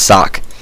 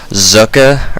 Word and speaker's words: Socke: not sure uh and his name is spelled s so C which in America would be pronounced sock but I'm going to try to be International the international Caster here and try to pronounce it the way I think he says it's pronounced it's like zuka or something like zo CK uh anyway nothing too